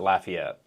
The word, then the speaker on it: Lafayette: Is it Lafayette or Lafayette? So neither. So growing up there, being from there, we pronounce it Lafayette.